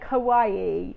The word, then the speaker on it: kawaii: but this is this there was lots of discussion about how you pronounce this um but we're going for kawaii yay i was